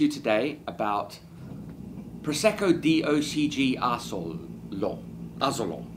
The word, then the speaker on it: Asolo: I wanted to talk to you today about Prosecco DOCG ASOLO, as it's pronounced in Italian, which is a tiny little picturesque village in Veneto, in the town of Asolo, and they make DOCG wines.